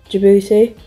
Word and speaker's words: Djibouti: Djibouti. Don't pronounce the D. There is a D, but you don't pronounce it.